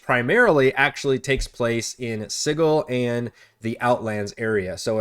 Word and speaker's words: Sigil: Um, this allows you to explore Sigle a little, which I hate that pronunciation, but that's the official one.